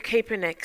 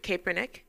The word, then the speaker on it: Kaepernick: Kaepernick.